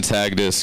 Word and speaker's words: Tagdis: I'm on TikTok as Tagdis. Give it back up for Sunda. T-A-G-H. The H is silent.